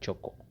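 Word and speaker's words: CHoCH: in the trading language you might pronounce it however you want but for me myself I pronounce it at choco so what is a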